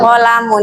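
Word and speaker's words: قلم: Qolamun. Ingat ya lamnya pendek. Qolamun. Jangan qolamun tapi qolamun.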